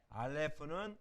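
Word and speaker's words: אָלֶף: 알렙은 음가가 이게 이응이잖아요. 알렙. 아가 아니라 이응이거든요. 그러니까 묵음해요. 소리가 나지 않습니다. 그러니까 모음만 읽으면 되죠. 모음만 읽고 소리가 나지 않는 거예요.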